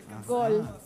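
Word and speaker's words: гол: Gol en ruso es gol igual. ¿Gol? Los gol, gol, no, igual. No es Goliev, una cosa así, ¿no? Golinski, no. Golinski, no. Tampoco, Golinski. Gol es gol.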